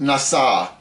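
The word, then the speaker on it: נשא: It's a it's a noon, a a shin, and an olive pronounced nasa to lift up.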